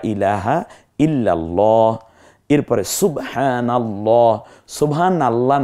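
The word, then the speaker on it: سبحان الله: ইলাহা ইল্লাল্লাহ এরপরে সুবহানাল্লাহ সুবহানাল্লাহ না মানে সুবা সুবানা সুব বলেন সুবহানাল্লাহ তাহলে এই নুনের উপর যে জবর আছে এই কারণে আল্লাহটাকে আমরা মোটা করে পড়েছি একটু দেখুন এরো চিহ্ন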